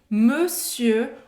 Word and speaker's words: monsieur: Está escrito monsieur, lembrando da pronúncia do ON, mas não tem a ver com essa palavra.